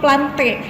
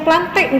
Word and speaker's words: Plantae: keempat adalah kingdom plantae Kenapa Ibu bacanya plantek enggak plantae karena ini adalah nama ilmiah jadi setiap pada nama ilmiah kalau misalkan diakhiri dengan a blast annya contohnya pada Kingdom Plantae ini jadi dibaca nggak lantai jadi salah kalau misalkan